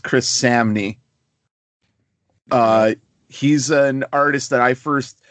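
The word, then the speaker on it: Chris Samnee: get into issue 3 one done by it's pronounced Chris Samy uh he's an artist that I first like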